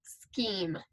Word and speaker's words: scheme: I see that I have an E at the end of my word, which is going to tell me that that E is silent and that my previous E is long. So this is the word scheme.